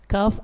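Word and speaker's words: كاف: bertemu dengan langit-langit keras, kaf agak ke depan sedikit. Kaf agak ke depan sedikit. Dan yang membedakan qaf dengan kaf, kalau qaf ketika membacanya isti'la. Adapun kaf istifal. Ka, seperti itu.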